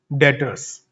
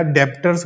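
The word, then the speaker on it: debtors: डेटर्स या डेप्टर्स बोलते हैं, सब डेप्टर्स नहीं होता, डेटर होता है, इसमें बी साइलेंट होता है।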